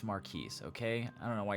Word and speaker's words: Marquis: 27-year-old loving father and husband I think I mispronounced his last name just a second ago let go of that it's Maris okay I don't know why you're gas lining